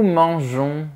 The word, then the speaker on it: mangeons: Le midi, nous mangeons chez nos amis. Il ne faut pas oublier d'ajouter la lettre E pour prononcer J. Nous mangeons.